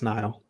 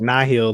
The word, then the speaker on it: Nihil: were saying not here no it's nile because i've the i mean the writers for the story have all called them denial like so i if they've pronounced it in the book nihil that's interesting because in all the interviews they've said now because it's like it's like a nihilist or nihilism that's the uh i